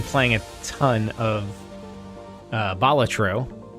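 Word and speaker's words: Balatro: And otherwise, I've been playing a ton of uh Bolatro, which I just realized is how to pronounce it. It's hard to say that instead of Batro.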